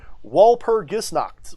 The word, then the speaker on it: Walpurgisnacht: appreciate you he says walpur gets knocked walpurgisnacht is the right way to pronounce it i appreciate you my